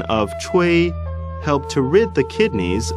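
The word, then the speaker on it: 吹: The pronunciation of chui ch is pronounced as the ch in the English word Chinese, and wei similar to a in wei.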